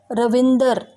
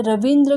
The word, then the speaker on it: रविंद्र: जैसे पंजाबी लोग बोलने में रविंदर यानी रविंद्र को वो रविंदर कहते हैं, शारीरिक शब्द को शारीरिक, आलू का आलू, नाराज नाराज।